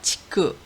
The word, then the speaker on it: 竹: 치크, 우리나라 말로는 죽 하니까 음으로 치크가 되는데요.